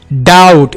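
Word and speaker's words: doubt: डाउट मी को silent रखें।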